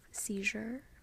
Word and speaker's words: seizure: medial position I have seizure so like even though in English we write a Z here and the word seizure the way we pronounce it is actually with that sound here Siege that's the medial